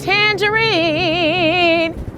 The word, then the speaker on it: Tanjareen: It's pronounced Tanjareen.